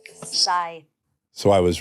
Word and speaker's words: Scythe: now video game how do you say it scye scye so I was right I think you were